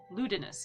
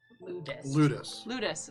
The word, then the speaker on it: Ludus: As we met Ludinus is what I have in my notes. It's either Ludus or Ludinus. Ludus. There we go. I heard an extra syllable.